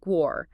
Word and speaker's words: Guo: And it's pronounced Guo.